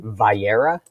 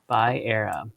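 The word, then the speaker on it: Va'era: Vayera. Vayera.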